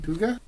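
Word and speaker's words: hygge: I believe it's pronounced huga, though I know there are other pronunciations as well. It's h y g from Danish and Norwegian.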